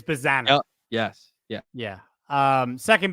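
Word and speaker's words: Bazzana: It's Bazana.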